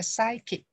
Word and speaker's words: psychic: Chữ đấy mình nhớ là chữ sai là chữ P không có đọc ha. Và chữ kích này chữ CH mình đọc là chữ K ha. Đọc là psychic chứ không phải là psychic ha.